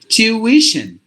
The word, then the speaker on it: tuition: for example we say this is actually three syllables this particular word but what we do we only give two a syllable sound like two but there is another sound in the middle we have to include that sound as well tuition tuition like this tuition like that so like this these